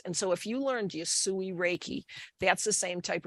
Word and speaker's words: Usui: She said, I learned, I'm not sure how to pronounce this. Usui. Yep. Usui Reiki.